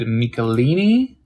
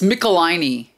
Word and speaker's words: Michelinie: uh 3-1-3 and it's written by uh david mikalini am i pronouncing that right i'm not sure it's mickelini no way yep the last way that i'd pronounce it yeah uh michelini yeah yeah i just pickle my knee anyway